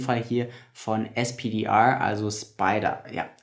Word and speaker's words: SPDR: UCITS ETF, in dem Fall hier von SPDR, also Spider. Ja, SPDR spricht man auch Spider in der Finanzszene aus.